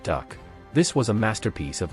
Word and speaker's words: DUKW: DUKW pronounced duck.